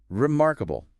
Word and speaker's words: remarkable: syllable interesting and uh maybe one more remarkable resmarkable again second syllable mark gets the main hit so the stress can